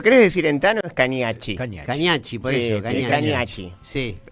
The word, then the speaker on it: Cagnacci: Se pronuncia, si lo querés decir en tano, es Cañacci. Cañacci, por eso. Cañacci. Sí. Pero estoy acostumbrado a Cañazzi, Cagnazzi, como sale.